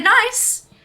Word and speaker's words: Nice: balls everywhere and um biscuits were named after the city in the south of france and pronounced the same as that city they've been part of the arnis range since 1922.